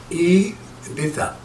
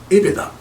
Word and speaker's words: EBITDA: C'est c'est un mot en anglais, ça se prononce I beta. I beta.